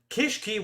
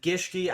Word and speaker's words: Gishki: or 2, I said, look, Kishki, which I know that I'm not saying Gishki, I'm trying to say the rank 7 archetype. I know I'm mispronouncing a little bit. I'm gonna learn for next market watch.